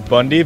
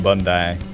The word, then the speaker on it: Bondi: Yeah, everyone says Bondi, but it's Team Bondi. Yeah. That's how we pronounce it.